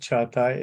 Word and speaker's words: Çağatay: There is a hook at the bottom of the C. That's why it's pronounced Çağatay. Is it like CH?